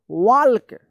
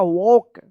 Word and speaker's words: walk: क्या है इसका सही उच्चारण होगा वॉक, वॉक। यहाँ पे जो है ना एल साइलेंट रहता है, एल का कोई उच्चारण नहीं होता है।